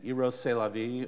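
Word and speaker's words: Rrose Sélavy: vie and of course when you pronounce the name it means eros that is the life love that is life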